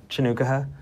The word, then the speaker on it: Chanukah: I've got, and I'm going to pronounce it correctly, Mr. Chanukah. Chanukah.